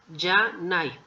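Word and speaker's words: じゃない: Ya nai. Ya nai. Se pronuncia yanai.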